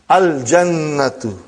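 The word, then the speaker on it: الجنة: You will pronounce Lam. Al-Jannatu, the garden.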